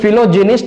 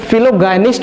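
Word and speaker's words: philogynist: ठीक है, तो इसको प्रोनाउंस करने के लिए फिलोजिनिस्ट भी कुछ लोग बोलते हैं, या फिलोगायनिस्ट भी बोलते हैं, दोनों सही होता है.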